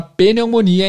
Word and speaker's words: pneumonia: ver aqui como falar pneumonia em inglês Pneumonia faz parte de um de um grupo de palavras onde o p não é pronunciado existe na escrita mas